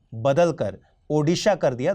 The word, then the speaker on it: ओड़ीशा: जरिए उड़ीसा को बदलकर ओड़ीशा कर दिया 2011 में राज्य की आधिकारिक भाषा ओड़िया में राज्य के नाम का यही उच्चारण है लोगों के माने तो